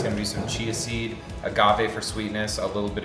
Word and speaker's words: agave: Agave. I kept calling it a guava.